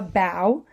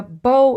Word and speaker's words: bow: So the actors leaned over and took a bow. In this sentence, bow rhymes with how. But here we would say the girl tied a bow in her hair.